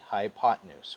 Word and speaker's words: hypotenuse: Now you're going to spell it hypo, 10, use, but you're going to pronounce it smoothly, hypotenuse.